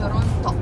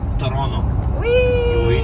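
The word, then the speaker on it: Toronto: в тороonно цікавий момент що мі місцеві локальні люди не кажуть Торонто не вимовляється сьогодні буде зустріч з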